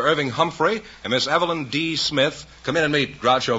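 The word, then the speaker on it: D'Smith: see you miss eveline smith is that right uh my name is not smith it's d smith oh it's d smith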